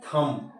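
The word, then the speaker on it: thumb: कर दिया इसके अलावा टी एच यू एम बी थम क्या पढ़ते हो आप थम पढ़ते हो बी साइलेंट है बी क्या है सॉफ्ट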